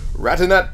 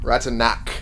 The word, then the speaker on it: Ratanak: Ratanat the Singer, branded. Ratanak the Singer, rather. I should be pronouncing his name right.